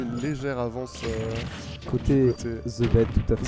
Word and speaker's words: ZBD: Alors, il faut savoir que ZBD, ça se prononce The Bed, et c'est un joueur